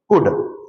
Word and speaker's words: could: Means you have to use present form of the verb with could, and in could L is silent there.